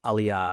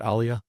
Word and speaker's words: aliyah: say there's been a major major wave of aliyah.